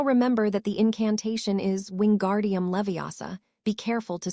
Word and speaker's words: wingardium leviosa: Its wingardium leviosa make the gar nice and long. And remember to say Leviosa, not Levio.